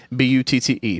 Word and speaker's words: Butte: pronounce I know that it's Elephant Butte but I want to call it elephant booty and speaking of bad